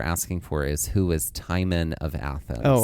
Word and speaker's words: Timon: So, it's spelled the same as the uh Disney character, but it is not traditionally pronounced the same as Timone and Pumba, but what you're asking for is who is Tyman of Athens?